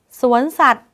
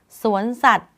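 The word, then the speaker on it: สวนสัตว์: ว่า ย ยักษ์ การันต์ สวน สัตว์ อ่าน ไป เลย ว่า สวน สัตว์ ไม้ หันคา ที่ กำกับ ว แหวน อยู่ ทำ ให้ ไม่ ออก เสียง ว แหวน บอก ว่า สวน สัตว์ ว แหวน การันต์ เวลา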